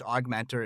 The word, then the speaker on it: OGMentor: and the show notes augmentor is spelled o OG Mentor pronounced aug Mentor I love the name